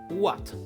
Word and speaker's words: ouatte: worldwide, with the word… ‘ouatte’, which means cotton wool and may be written completely differently, but is pronounced exactly the same.